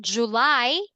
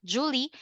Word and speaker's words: July: March April May June July not Julie July August September October November